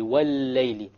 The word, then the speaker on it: وَالْلَيْلِ: But since it is a lam in and of itself, then you put a shadda on it and you pronounce it. So you pronounce the lam immediately. وَالْلَيْلِ.